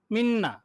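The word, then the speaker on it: みんな: মিন্না, মিন্না না, মানে আপনার নয়ের মতো।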